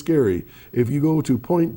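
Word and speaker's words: Gerry: If you go to a town called Ge R Y, it's not Jerry, it's Gary.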